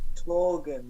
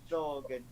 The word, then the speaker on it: Thorgan: thought it was Torgan, not Thorgan.